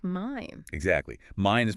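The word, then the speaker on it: mein: So many learners say mean at first, but it's mine.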